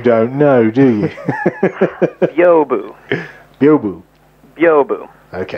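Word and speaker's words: Byobu: Biobu. Biobu. Okay. So the B-Y-O is Bio, and then B-U, Bu.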